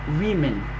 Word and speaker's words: women: Bon, vous êtes des enfants, on va prononcer who is woman, you say, but in the right English you read women.